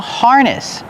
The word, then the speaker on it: harness: This is a harness. This is called a harness. Coco is wearing a harness. Harness. Pronunciation, use the R sound like far and bar. Har. Harness. The stress is on the first syllable.